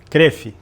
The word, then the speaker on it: Kroef: Rafa Rafael CF, como é que se pronuncia? Cref. Cref. Cref. Rafael Cref. Mentira. Não é possível. É vejo. É. É. Caramba, eu nunca consegui pronunciar corretamente teu nome que é Cref mesmo.